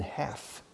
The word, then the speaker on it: half: Fijaos, la L de half, we don't pronounce. Half. The British say half. But still, the British usually don't say the L, okay?